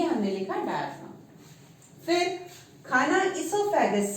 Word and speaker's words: oesophagus: ये इसोफेगस कुछ बुक्स में आपको ओ हम रीड आउट ही नहीं कर रहे, पढ़ ही नहीं रहे, ओ साइलेंट है यानी ऐसे रख लिया,